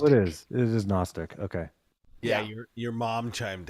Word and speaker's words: Gnostic: The G is silent for Gnostic. Oh, it is. It is Gnostic.